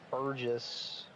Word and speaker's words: Burgess: All right, Dan Thunder's going to be starting at the plate, and Burgess. I was told it's pronounced like burger, so Burgess, I would think.